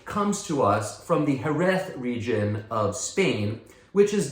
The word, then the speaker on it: Jerez: The word sherry, as we call it in English, is sort of a Anglo mispronunciation of Jerez.